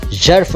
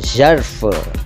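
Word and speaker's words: ज़र्फ़: लेकिन इस तरह से बोलना सबके लिए आसान नहीं होता, इसलिए इसको भी आप जर्फ कह सकते हैं, मगर याद रखिएगा कि इसका शुद्ध उच्चारण जर्फ है, जर्फ, जर्फ, ठीक है।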